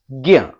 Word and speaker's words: ज्ञ: तो अभी इसमें कोई मात्रा नहीं लगी, इसमें अस्वर मिला हुआ है, तो इसके उच्चारण में अंत में अस्वर निकलना चाहिए, ज्ञ।